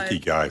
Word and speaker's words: Ikigai: Ikigai, thank you for pronouncing it correctly.